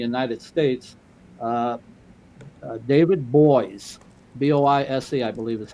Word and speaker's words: Boies: And then Judge Posner now, there's a very highly recognized attorney in the United States, David Boies, B-O-I-S-E, I believe is how you pronounce his last name.